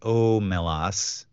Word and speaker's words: Omelas: Wikipedia lein stated that the Sea's name is pronounced omelas lein hit upon the name of the town